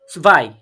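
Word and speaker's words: zwei: কি ওয়ান টু টু কে জার্মানিতে কি বলে সুভাই সুভাই সুভাই মানে কি ইয়া এখানে আমি একচুয়ালি সোয়াই লিখেছি কিন্তু সোয়াই না প্রোনাউন্সিয়েশনটা সুভাই হবে কারণ আমরা এই ডব্লিউ টাকে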